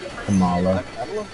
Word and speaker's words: Kamala: Yes, Kamala.